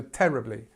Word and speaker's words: terribly: But again, so here we start, on the stress is on the first part of the word. So terribly. And again, we've got our schwa sound. So this is this schwa sound, this sound, terribly.